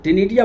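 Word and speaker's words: ctenidia: तो श्वसन के लिए इसको गिल्स नहीं बोलते, इसको टिनिडिया बोलते हैं। गिल्स जैसी ही रचना होती है लेकिन विशेष नाम इसका है टिनिडिया। सी साइलेंट होता है।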